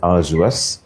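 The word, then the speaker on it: arduous: ওকে, আর্ডিউয়াস। আর্ডিউয়াস মানে কিন্তু হচ্ছে কষ্টসাধ্য, হ্যাঁ, বা আর্জুয়াস, উচ্চারণটা হচ্ছে আর্জুয়াস।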